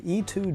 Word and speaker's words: E-Twow: it freaking rips let me show you the e2 gt and yes that's apparently how it's pronounced really surprised me in the speed and